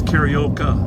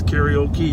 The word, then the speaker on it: karaoke: That's karaoka, right? Okay. Karaoka. Okay, that's the exercise. But my problem is when you're singing, it's karaoke, right? Karaoke. Maybe I got the accent on the wrong. You've got one too many syllables.